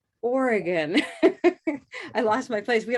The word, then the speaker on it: Oregon: what do you say is it oregon organ how do you say that state name and what color do you use take a look in the chat okay here we go wonderful what do we have showing up there orange door that's right so let's try an orange door ready orange door oregon i lost my place